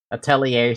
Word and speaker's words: Atelier: But I don't know a damn thing about these Atelier series. How did they pronounce it again?